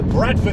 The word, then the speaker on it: Bradford: And then of course, because they've got so many T's left over, Bradford itself to me is spelled B-R-A-D, Brad, but in Bradford itself they do call it Brat, B-R-A-T, is that right, Bradford?